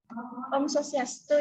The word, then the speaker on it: Om Swastiastu: Om Swastiastu, Ibu.